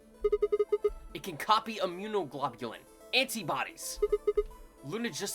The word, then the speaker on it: immunoglobulin: IG equals amunoglobin. Globin. Do you know what immunoglobulin is?